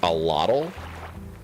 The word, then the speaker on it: axolotl: The word is pronounced allotl.